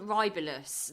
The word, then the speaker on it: Rybelsus: are on this Wegovy, or how do you pronounce this other one? Rybelsus.